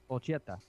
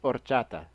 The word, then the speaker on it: horchata: that they can you at least pronounce it right? Ocheta. It's horchata.